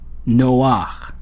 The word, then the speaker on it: Noah: the name Noah and you can hear that we pronounce that as a single syllable it's not no it's Noah it's a single syllable even though it looks like we have um uh two syllables perhaps because of those two vowels